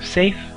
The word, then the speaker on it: Seidhr: Old Norse pronunciation, and the EI diphthong would be pronounced like an A, so therefore we have Seidhr and Galdr. In the ancient North we have two different kinds of magic, Galdr and Seidhr.